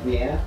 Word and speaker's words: Rihanna: Rihanna. Yeah, that's how you say it.